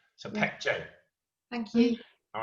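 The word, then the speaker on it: Baekje: it's it's it's it's first letter is b but b is pronounced p so pec j thank you all right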